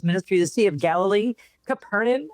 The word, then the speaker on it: Capernaum: the Sea of Galilee, Capernaum. I went to Capernium as they pronounce it, Capernium.